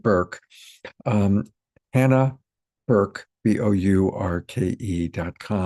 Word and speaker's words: Bourke: I've been calling it Burke for a dozen times and I have to keep remembering that she pronounces it Burke.